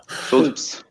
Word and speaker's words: Scholz: Schultz, yeah, that's cool. Schultz. Schultz. Actually, not sure. Hey, you're the German. Cool. How do you pronounce Scholz? STH. Schultz. Genau, yeah. All right.